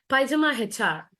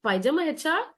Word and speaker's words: PyjamaHR: So every day, like in India, I'm using Naukri, but apart from that, like I have this Pajama HR.